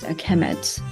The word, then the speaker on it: Kemet: So it will be, the noun will be pronounced kemet.